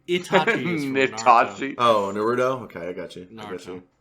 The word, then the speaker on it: Naruto: That the whole time that you've been making fun of it, that it actually is Naruto. We've just been saying Naruto, so you'll be saying it correctly the whole time.